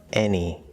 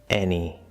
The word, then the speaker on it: any: Any. In some dialects, this is supposed to be the fourth vowel, but you can simply use the third vowel. Any.